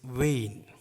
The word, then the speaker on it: أين: Its pronunciation is Vain.